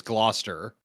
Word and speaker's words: Gloucester: Um I think if it's anything like how it's how it's pronounced in the county I was born in in New Jersey, it's Gloucester.